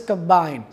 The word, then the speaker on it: combine: Similarly, the word is combine. If I say combine, if the stress is on the first syllable, it will be a noun. If the stress is on the second syllable, the word will be a verb.